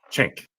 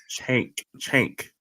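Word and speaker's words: Cenk: Chank. Right? Chank. You're getting there. One of these days you'll pronounce that name right.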